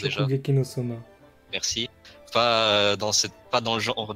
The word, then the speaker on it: Shokugeki no Soma: Comment ça se prononce déjà? Shokugeki no Soma.